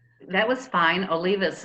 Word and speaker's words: Olivas: name that was fine olivas is how i pronounce it okay wasn't quite right